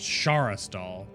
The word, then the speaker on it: Sharas'dal: So it's just Sharas'dal. So it's a light H. At least the way that Aranak pronounces it.